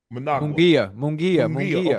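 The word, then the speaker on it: Munguía: Mungia.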